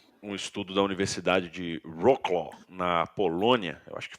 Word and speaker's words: Wrocław: Tem um estudo da Universidade de Wrocław, na Polônia, eu acho que fala Wrocław, W-R-O-C-L com corte no meio, A-W. Vou tentar pronunciar da melhor forma, Universidade de Wrocław.